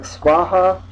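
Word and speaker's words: svāhā: a Sanskrit word like swaha sasti and it's got a v in there it's pronounced W you'll sometimes see it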